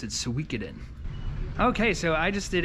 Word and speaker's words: Suikoden: So I pronounce it Suikoden because that's the way Psycho Mantis says it if you have the save file on your Metal Gear Solid game.